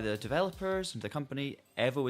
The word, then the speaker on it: EVO: But I've been told by the developers and the company, EVO is the correct one.